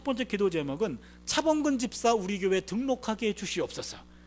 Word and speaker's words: 차범근: 그래서 독일 발음은 이게 붐근차입니다. 붐근차.